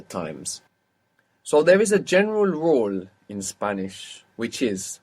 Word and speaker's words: general: For example, if we have a j sound, now, for example, in general, how is this pronounced in Spanish? General. General. And it's spelled the same. So there we understand that GE makes G sound.